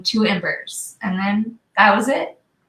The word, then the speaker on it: iiembers: is it i i ambers got started yes two embers um remember is that how you say it